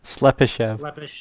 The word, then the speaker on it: Slepyshev: How do you pronounce it? Slepyshev.